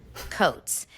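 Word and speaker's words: Coates: Tahesi coats.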